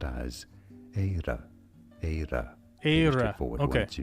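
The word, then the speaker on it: Éire: In English, it's generally said as air. Now, in Irish, this is said, and I guess that's how it should be pronounced, as Eira.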